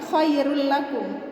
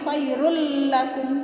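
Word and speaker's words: خير لكم: bacanya bukan khoirullakum yah ingat bacanya bukan Khoirun racun tapi khoirullakum tapi tidak didengungkan didengungkan begini Hairun lakum tidak ya Jadi kalau bilang Una itu tidak didengung cara bacanya gini khoirullakum khoirullakum Fairul laku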